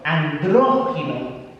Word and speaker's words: andrógino: Right, remember the accent on the O, andrógino.